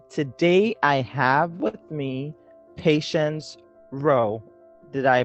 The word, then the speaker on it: Patience Rowe: do podcast and today i have with me patience row did i pronounce that correctly yes okay um and patience